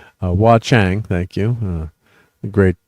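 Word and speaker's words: Wah Chang: communicators now using this pencil box is why Wang I'm trying to say his name correctly. Wa Chang, thank you.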